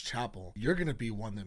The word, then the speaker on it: Chappell: I keep wanting to say Chappell, but I did look up an interview really quick so I could hear her pronounce her own name. And she said Chappell. So it's Chappell.